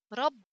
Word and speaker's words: رب: The first letter of tashdid always got sukun, always, and the second one has the haraka, which tashdid got whatever fatha, kasra, dhamma, fathatain, kasratain, dhammatain. رب. رب. This is how to read this word.